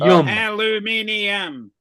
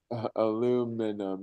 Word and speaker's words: aluminium: was the name aluminum aluminum mini there's an i in it that doesn't mean you pronounce the ey yeah it does it's aluminum look we